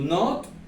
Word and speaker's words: not: Y la palabra not, también la O suena ligeramente como una A.